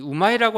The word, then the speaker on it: 우마이: 근데 재미있는 것이 이 우마이가 갖고 있는 전설 이전에 이 우마이라고 하는 발음을 보면은 이제 영어로 제가 우마이라고 적어놨는데 사실 그 어머니하고 발음이 비슷합니다.